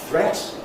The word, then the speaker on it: threat: Threat is threat rhymes with wet.